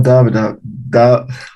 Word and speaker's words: doubt: The b is silent. You just doubt write about it. Yes, you just write it, but not say it.